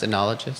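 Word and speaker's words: oenologist: Because the O was there to throw you off.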